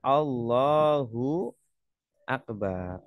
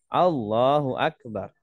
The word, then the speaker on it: Allahu Akbar: jangan sampai Salah baca jangan bacanya a-nya panjang seumpama kalau a-nya panjang Allahu akbar ini salah ya artinya kalau panjang yang harusnya bacanya pendek Allahu akbar nah ini bacanya Allahu akbar artinya Apakah Allah Maha Besar gu kalau panjang ya Jadi jangan dipanjangkan bacanya pendek Allahu Akbar Ya